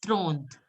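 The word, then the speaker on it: trente: 30 will be pronounced as Thront. Thront. Thront. Yes, Thront. Till T you have to pronounce.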